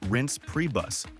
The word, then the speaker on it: Reince Priebus: his name is pronounced rinse pre-bus sounds like something you'd use to clean your car Sean Spicer Shan Spicer